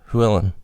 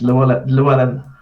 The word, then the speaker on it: Llewellyn: Llewellyn. How do you pronounce it? It's Llewellyn. Yeah. It is with an L? Oh, okay. Yes, yeah, it's Welsh.